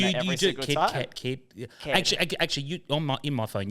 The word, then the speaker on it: Caird: name, because it still gets misspelled and people pronounce it wrong still to this day. I might even say it wrong. Oh, Kid, I have multiple times.